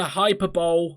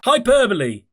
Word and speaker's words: hyperbole: not me giving into hyperball hyperball is that how you say it hyperbole who knew that's not me giving